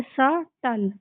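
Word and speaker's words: subtle: तो हम इसको बी को साइलेंट कर देंगे। इसको क्या पढ़ेंगे? सटल।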